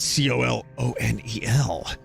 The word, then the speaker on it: colonel: turn off but colonel why is it spelled c-o-l-o-n-e-l it's pronounced colonel k-e-r-n-a-l i don't get it